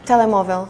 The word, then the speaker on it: Telemóvel: Telemóvel.